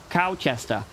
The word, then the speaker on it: Colchester: But yes, there's one in Colchester. Oh, there is one in Colchester. You have to say it like local. Okay. I'm sorry. Cowchester.